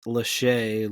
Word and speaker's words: Lachey: I believe it's Lachey, like former boy band member Nick Lachey. It is spelled Lache. Exactly like Nick Lachey.